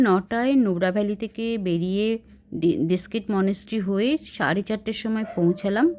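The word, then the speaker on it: Diskit: আমরা এখন এসে পৌঁছালাম দীক্ষিত মনেস্ট্রি। এটার আসল উচ্চারণ হচ্ছে ডিস্কিট মনেস্ট্রি। মানুষ কথায় কথায় এটাকে দীক্ষিত মনেস্ট্রি বানিয়ে দিয়েছে।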